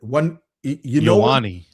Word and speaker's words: Ioane: Ioane.